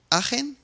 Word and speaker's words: Aachen: Introduce Umberto Hryniewicz from Aachen, is how it's pronounced, University.